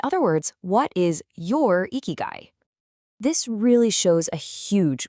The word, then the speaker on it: ikigai: Eeky guy. That's pronounced eeky guy.